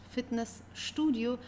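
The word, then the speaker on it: Fitnessstudio: studio in this case although you have St in the middle of the sent of the word you still have to pronounce it as sh Fitness Studio because here we have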